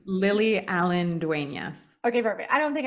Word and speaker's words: Lily Allen-Duenas: It's Lily Allen-Duenas. Okay, perfect. I don't think I butchered it too bad.